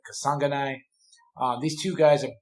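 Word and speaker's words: Kasanganay: versus impa kasanganai um i've been practicing that i wrote it down phonetically and then my mind just went totally it's kasangani um these two guys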